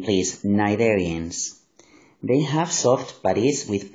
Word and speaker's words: Cnidarians: Remember the pronunciation, please. Cnidarians.